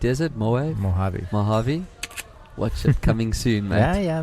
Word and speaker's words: Mojave: corner and get a little iOS not always mole wave how do you pronounce it is it mo a Mojave Mojave what's coming soon yeah yeah now I've seen